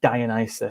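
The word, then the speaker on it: Dionysus: I'm sorry Co I'm going to have to cor correct you on your pronunciation because I think somebody mentioned it in the comments but it's dianis the god of Li sorry sorry to correct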